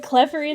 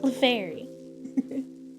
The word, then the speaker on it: Clefairy: I thought you pronounced it like clefery the first time. Did I? I might have. I might have said it like that on accident. I didn't mean to. Clefairy.